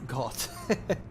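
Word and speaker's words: Goht: I think it's pronounced like goat.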